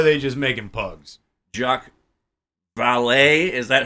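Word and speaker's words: Vallée: how you said Val it's got two e at the end so yeah but it's got that little thing okay I don't know didn't you didn't you take French no I believe it's pronounced valet so jacqu Dr jacqu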